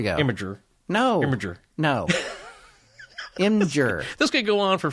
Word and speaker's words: Imgur: But there is no vowel between the M and the G. I fully realize that. Imgur.